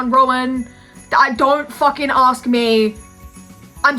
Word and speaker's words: Rowan: I'm praying I'm pronouncing his first name right. I tried to Google it. It was Indian pronunciations. I didn't know if that was correct. It was Rowan.